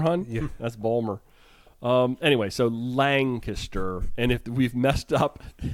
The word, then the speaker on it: Lancaster: right they are hard so I think we pronounced the name of the town land caster very wrong as land caste and I got an Instagram correction with a picture that said it is Lancaster Lancaster Lancaster I've heard it said that way